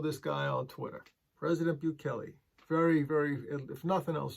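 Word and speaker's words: Bukele: bills to get started with the process president buchelli then confirmed this via twitter for the rest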